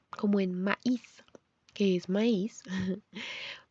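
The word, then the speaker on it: maïs: Se escriben igual, pero el cambio es la diéresis de maíz, para saber que ahí sí se pronuncia diferente.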